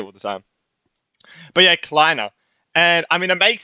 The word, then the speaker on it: Kleiner: I could say Cleaner. That is not the name. Kleiner. Jesus Christ. I can't fully remember how to say it all the time. But yeah, Kleiner.